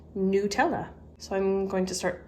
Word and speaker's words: Nutella: Now, I always said Nutella growing up, and other people would say Nutella, which I thought sounded kind of odd, but I looked it up on their website and it's pronounced Nutella.